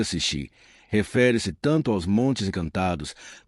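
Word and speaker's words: sídh: A palavra sid pronúncia Xi, refere-se tanto aos montes encantados, túmulos antigos que se acredita serem portais.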